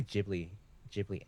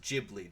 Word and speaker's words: Ghibli: Well, I take it from the Japanese pronunciation, which is Ghibli, Yeah, right? Ghibli.